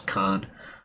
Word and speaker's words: Kane: It's spelled Kane. Sometimes they pronounce that as Khan.